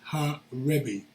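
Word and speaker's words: הָרַבִּי: This is the literal reading in the Hebrew, pronounced Ha, Rebbe, meaning the rabbi.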